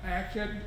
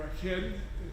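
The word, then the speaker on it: Akkad: and that is sargon sargon of akkid or a kid depends how you want to pronounce it sargon has a middle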